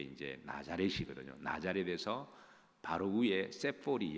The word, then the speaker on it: 세포리: 나자렛에서 바로 위에 세포리 영어로 되어 있죠. 영어로 발음은 세포리인데요.